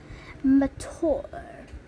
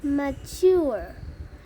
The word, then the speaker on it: mature: By the way, if you want to be mature, you can say it like Gaddy, my great aunt Tess, mature, which rhymes with door, not mature, which rhymes with sewer.